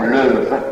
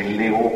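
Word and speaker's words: Leeuw: Puis, le portrait de Jean de, nous disons Leuve, il faut prononcer Léo, paraît-il, Jean de Léo, qui était le doyen de la gilde des orfèvres de la ville de Bruges.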